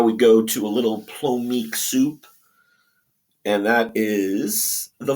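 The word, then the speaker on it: plomeek: all right now we go to a little plomik soup and that is the Vulcan it's a Vulcan sort of delicacy or soup it's a traditional Vulcan soup it's pronounced Pro Meek uh the big famous episode was of course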